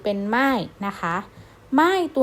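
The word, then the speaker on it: 卖: บวก อาย เป็น มาย เสือ สิงห์ 4 เป็น หม้าย นะ คะ ไม่ ตัว นี้ นะ ครับ แปล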